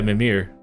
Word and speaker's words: Mimir: Trying some Mimir, you mean? 16. Yeah, Mimir. Mew It's the emphasis is always on the first syllable in Norse.